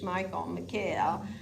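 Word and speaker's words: Michal: Yeah, because I think David could have still had an issue with Michael, is how they say it, Jewish, Michael, and also like that Rizpah was the concubine, so it's not as important as the wife.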